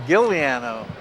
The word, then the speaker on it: Giuliano: Josh Giuliano from Westford. Paul Bachmann from Deford. Right. And then the CD media tonight, I was corrected on the pronunciation. It's Gilliano.